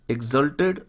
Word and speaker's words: exulted: Number C, the coir boys एक्सल्टेड और एक्सॉल्टेड, यहाँ पर प्रोनाउंसिएशन में ध्यान दीजिए, दोनों में डिफरेंस होता है। This is एक्सल्टेड and second one इज एक्सॉल्टेड।